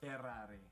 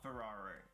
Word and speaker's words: Ferrari: has to be pronounced there's a double r in there and you have to roll your r even more ferrari not ferrari margarita it's margherita so